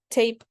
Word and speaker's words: tape: For example, tap before the silent E, tape after, adding that E at the end.